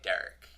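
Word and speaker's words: Darrick: questions about Derek he you spelled Derek d a r r i c k yeah so it's different he's but you say it like Derek I'm not gonna get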